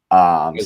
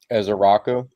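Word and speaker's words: Ezeiruaku: whose last name I don't even attempt to pronounce. Ezaraku. So what's that? Ezaraku. Oh, is that how you say it? I've been wondering this whole time. Ezaraku.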